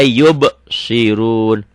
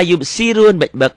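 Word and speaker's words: يبصرون: La yubsirun. Banyak orang baca la yubsirun dengan sin. Salah, artinya akan salah.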